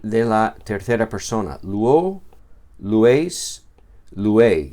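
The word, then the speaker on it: λύω: Este verbo luo se pronuncia luo.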